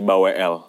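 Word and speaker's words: Balwel: Kalau gua balwl sebenarnya tulisannya balw b a l w e l cuman kita ngebacanya jadi l-nya mati gitu. Jadi baw.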